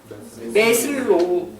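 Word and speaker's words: 매슬로: 메슬로우. 그죠? 메슬로우라고 발음하면 돼요.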